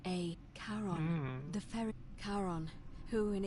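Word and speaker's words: Charon: it's just as you described it only your pronunciation is a little off it was c h a Caron the fairy Caron who in exchange for the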